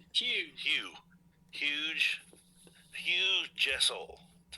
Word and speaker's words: Hugh Jassol: ] but it's all right hu Hugh huge Hugh Jessel that's how you pronounce it J Jess but I like it